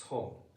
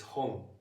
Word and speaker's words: 本: It's home. H. Yes. The typical foreign accent is that to pronounce it as one syllable word. Yeah. H. Is it wrong? Very in Japanese it's it has two morals.